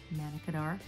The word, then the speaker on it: Manna Kadar: that was man or mana it was monica manna kadar you pronounce it for the june july american influencer